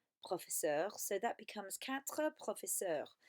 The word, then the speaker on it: professeurs: slightly, it was 4 professeurs, so that becomes quatre professeurs. Again, you do put an S on the end, but you don't pronounce it when you say it.